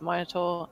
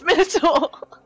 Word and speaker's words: Minotaur: it's just it's just generally recognized in the UK it's monotor and then probably everywhere else it's minur the uh D and D Beyond pronunciation is minitar oh God Minar [